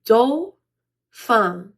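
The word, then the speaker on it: Dauphin: a note for you Dolan is a French word so might be hard to pronounce but we pronounce it do F the end's kind of quiet like a pottin they're very quiet so do F and his son became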